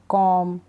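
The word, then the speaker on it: comb: तो यहाँ पर बी का उच्चारण नहीं होगा, बी को हम नहीं पढ़ेंगे। चलिए स्पेलिंग्स पढ़ लेते हैं। बॉम्ब, टॉम्ब नहीं, बॉम्ब, टॉम, डम, क्लाइम, कॉम, लैम, थम।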